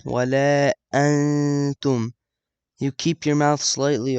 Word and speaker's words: ولا أنتم: So you don't pronounce the noon, ولا أنتم. You keep your mouth slightly open when you're saying it, and you kind of like skip the noon. ولا أنتم.